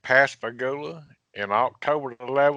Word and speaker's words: Pascagoula: Calvin to go ahead and confirm that I pronounced Pascagoula correctly and that that's the right date that is correct Pascagoula and I'll cover the land was in 1973